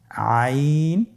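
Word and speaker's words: عين: আইন হরফটি উচ্চারণের সময় অবশ্যই তিন আলিফ টেনে পড়তে হবে। এখন আইন হরফটি বারিক হরফ। পাতলা করে পড়তে হবে।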